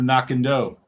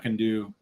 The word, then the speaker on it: Knockando: getting confused with her it's knocked you knocking doe not condo not can do yes oh that